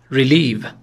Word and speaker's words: relieve: relieve. تلفظش رو دقت کنید. یه صدای ای کوتاه، یه صدای ای کشیده. استرس روی هجای دوم.